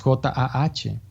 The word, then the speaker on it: Jah: El maestro da ese mantra de 3 letras, J-A-H. En los grupos de meditación, relájense todos y pronuncien el mantra Jah, así. Como una exhalación, como un aliento para sí mismo, profundamente ignoto.